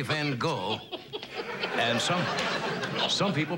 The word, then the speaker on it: Van Gogh: Van Hock.